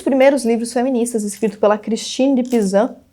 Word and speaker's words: Christine de Pizan: Um dos primeiros livros feministas, escrito pela Christine de Pizan, e depende da pronúncia, pode ser Cristiane de Pisano, enfim, publicado em 1400 e alguma coisa, se chamava A Cidade das Mulheres.